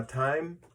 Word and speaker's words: TYME: hear more different things about them now now time and that's how that's how you pronounce it all right the last time we